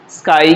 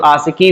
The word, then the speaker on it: ASCII: तो जो पहली कोडिंग स्कीम है वो है आपका स्काई कहते हैं उसको, या कुछ लोग आशिकी भी बोलते हैं इसको। तो स्काई कहिए चाहे आशिकी कहिए, दोनों एक ही है।